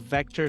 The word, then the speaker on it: Vectr: is and am I pronouncing it correctly because it's spelled v c are right that's it Vector Ventures so Vector Ventures was started by Two